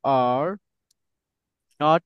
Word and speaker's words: aren't: এটার মেন উচ্চারণটা হবে হচ্ছে আরেন্ট, আরেন্ট এরকম হবে। বাট Aren't. স্পোকেন ইংলিশে শুনেন, স্পোকেন ইংলিশে সব সময় কি করবেন, এটা এই যে শেষে যে টি দেখতেছেন, এই টিটা উচ্চারণ করবেন না।